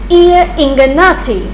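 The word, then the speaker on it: Gli Ingannati: The story of the play seems to have been borrowed from Italian play Ear Ingannati. GL is pronounced as ear in Italian.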